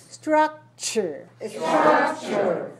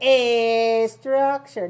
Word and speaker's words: structure: significant significant source source structure okay if you speak spanish be careful don't say a structure don't put anything before it don't put a vowel before make sure you start